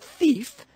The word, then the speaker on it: thief: Isn't it funny that the word thief has the long E sound, but it's spelled with an I and an E?